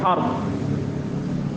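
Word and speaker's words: عرض: Ard itu cara bacanya disukuni ro, disukun ro-nya, ard.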